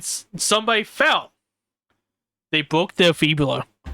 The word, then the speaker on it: fibula: No, I think it's called febler. Feebler. Oh, do you mean fibula? Yeah, that that. Yeah, I mispronounces fibula sometimes.